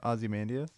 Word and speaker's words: Ozymandias: Ozymandias. Okay. I would say I've heard I've so many different things. I all pronounced it differently before.